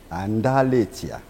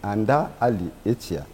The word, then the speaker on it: Andaletia: peut se prononcer de deux manières, de la façon on peut dire Andaletia. Ah d'accord. Ça veut dire les problèmes qu'on va traiter. Ou bien, vous dites Anda Ali Etia.